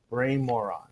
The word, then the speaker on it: Brian Moran: Because I asked him how to pronounce his name before, and he said Brian Moran, which I have been called.